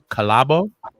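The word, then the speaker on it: Khalabo: me say this right it's spelled k-h-a-l-a-b-o is that collabo sounds like it sound right so collabo inc society's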